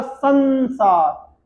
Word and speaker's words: संसार: इसका उच्चारण करेंगे तो होगा संसार, यानी कि संसार। देखिए साया, अनुस्वार के बाद सा आया, जब अनुस्वार के बाद सा आता है तो उसका उच्चारण आधे ना के जैसा होता है।